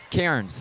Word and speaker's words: Cairns: How do you pronounce that, John? Cairns. Cairns, okay.